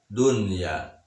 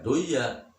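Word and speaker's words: دنيا: Kemudian dunya, tidak bisa dibaca duya walaupun nun mati bertemu dengan iya, tetap dibacanya idhar. Dunya tidak dibaca duya.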